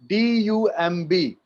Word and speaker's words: dumb: Whenever M and B will come together, like D-U-M-B, dumb, बॉ नहीं आएगा. T-O-M-B, tum, बॉ नहीं आएगा. So whenever M and B will come together, B will be silent.